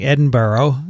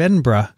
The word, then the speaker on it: Edinburgh: i fell victim to the classic blunder of saying edinboro instead of edinburgh right but i say it correctly now when i was in